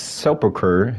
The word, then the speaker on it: sepulchre: Okay, it's pronounced sepulchre, and it's a small room or monument cut